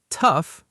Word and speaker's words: tough: Tough, pronounced like stuff.